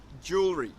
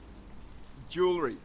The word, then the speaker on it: jewelry: say jewelry ok it's jewelry I don't wear a lot of jewelry many people find this word difficult because of the W but in British English it is basically not pronounced so that makes it